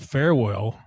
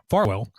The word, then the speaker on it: Farwell: Now, the allegation is that farewell, I keep saying it wrong. Farwell thought that she was, it was his baby.